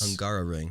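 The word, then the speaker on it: Hungaroring: do you say the track the hunger ringan hungara ring hungara ringar ring yes angaro ring angaro ring three times yeah no thanks uh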